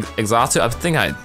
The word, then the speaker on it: Xatu: Take him to Xatu, that's how you pronounce the name, and he'll open them, and you can find rare items.